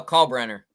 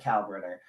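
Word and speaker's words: Kalkbrenner: big guy's name calbriner how do you pronounce his last name uh call Brenner call Brenner I was I said cow burner uh he's obviously a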